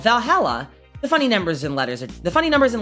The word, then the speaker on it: VA-11 HALL-A: she wrote about us the name va-11 Hall Dash a Valhalla the name sounds silly and a bit hard to pronounce good thing it's actually called Valhalla the funny numbers and